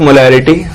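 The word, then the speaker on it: molar: रहा था representation of मोलैरिटी। देखो, मोलैरिटी को रिप्रेजेंट कैसे करते हैं? मोलैरिटी is represented as capital M और उसको प्रोनाउंस कैसे करते हैं हम लोग? मोलर। ये इसका प्रोनाउंसिएशन है।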